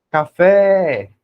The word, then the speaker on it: café: sílaba tônica Tá bom então você vai gritar café com uma pessoa café olha aí ó o fé saiu mais forte e mais demorado tá